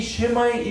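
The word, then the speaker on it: שמע: 그러니까 쉐마보다는 조금 약하게 발음을 하세요. 여기 이제 맞는 말입니다. 그리고 액센트가 두 문제 있습니다. 쉐마가 아니라 쉐마입니다. 따라합시다.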